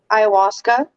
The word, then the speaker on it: ayahuasca: Youth but can I touch base on um Ayahuasca yeah yeah please do that's how that's pronounced by the way okay Ayahuasca so Ayahuasca